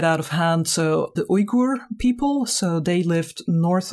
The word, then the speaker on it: Uyghur: I use the term Uyghur instead of Uyghur, which is the one you probably hear more frequently in the news nowadays. This is the pronunciation the Uyghur people themselves prefer.